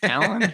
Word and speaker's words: Talon: So it rhymes with gallon. That's what it says on the rhymes with gallon. Talon rhymes with gallon.